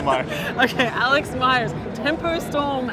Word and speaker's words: Myers: And I am Alex Meyers. Myers. Is that actually how you say it? Meyers? No, it's Myers.